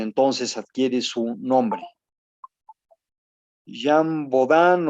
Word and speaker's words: Bodin: Jean Baudin se pronuncia en francés.